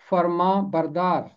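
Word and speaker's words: فرمانبردار: مرکب لفظ ہے اور اس کا تلفظ ہے فرما بردار۔ 18ویں زبور کی 44ویں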